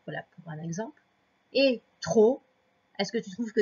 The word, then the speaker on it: trop: Alors, trop, c'est comme ça. À la fin, il y a un P. On ne sait pas pourquoi il y est, mais il y est tout le temps.